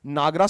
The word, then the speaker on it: Nagara: we refer to as Nagar, which is phonetically pronounced as Nagara style of temple architecture.